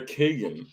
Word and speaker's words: Kagan: them was i was i correct in her pronunciation a is the only one i do not know is it kagan yeah it's kagan yeah okay fantastic i'm better than i thought